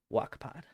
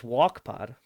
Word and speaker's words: Wokpod: also super easy link tree slash w-o-k-p-o-d oh wak-pod spell it out for the people well that was one of kylie's main complaints and she had no idea it was wakpod that was walkpod it's like why would we have a walk